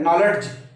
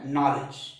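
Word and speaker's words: knowledge: आप क्या बोलते हैं नॉलेज नॉलेज नॉलेज नॉलेज तो यहां पर दी का उच्चारण बिल्कुल नहीं है लेकिन मित्रों जय पढ़ाया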